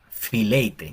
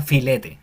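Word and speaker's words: φιλεῖτε: Fileite, ya no sería como filete, sino fileite.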